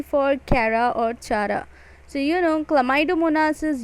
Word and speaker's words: Chara: U for Ulothrix, S for Spirogyra, V for Volvox, C for Chlamydomonas, and C for Chara, or you can pronounce that Chara also.